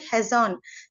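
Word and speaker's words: חזון: Vision வந்து ஹீப்ரூவோடைய name வந்துட்டு ஹெசான், CHAZON அப்படின்னு ப்ரொனவுன்ஸ் பண்றாங்க.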